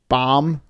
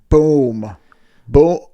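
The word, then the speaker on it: Bombay: I'm pronouncing Alex Bom Bomb sure how do you pronounce his name I'm the worst it's not bomb it's this is boom boom boom just so you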